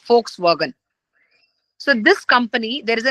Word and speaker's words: Volkswagen: you are aware of either Volkswagen it is called as but in the pronunciation we call it as folkswagen so this company there